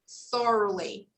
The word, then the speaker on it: thoroughly: old mechanic more more remember we don't pronounce the g okay we don't pronounce the letter g this word we say thoroughly thoroughly thoroughly we just